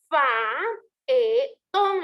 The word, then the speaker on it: faetón: Tendría que decir faetón, la palabra faetón tendría que llevar 3 sílabas, pero como yo no me interesa que me den 13, yo quiero 11, me tiene que cuadrar, me tiene que dar 11, entonces yo voy a hacer uso de la siniéresis. La voy a unir ese hiato. Yo estoy uniendo ese hiato, entonces ya no se va a contar como 2 sílabas, sino que se cuenta como una sola. Ese hiato, al unir ese